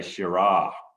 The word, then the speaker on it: Shiraz: in town from hunter they actually say shira they don't even they don't even pronounce the zed whatsoever but um uh shiraz is fine as long